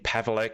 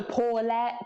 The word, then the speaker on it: Paweleck: Did I pronounce your name correctly this time? Yes, you did. You did really, really well. People always struggle to pronounce it and spell it. So, um, you did great. Well, I've had a couple of months practice, haven't I? Pavle. Pavle. Pavle. Yes. Most people go ple or something like that.